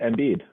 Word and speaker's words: Embiid: Joel MVP Embiid. Is it a coincidence his last name rhymes with MVP?